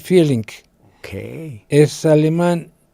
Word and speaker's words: Vierling: Vierling o Vierling se pronuncia Vierling.